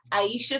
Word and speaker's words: Aishah: Yes, so my social media handle is Aishah Songstress. My name isn't spelled how it's said, so it's AISHAH and then Songstress.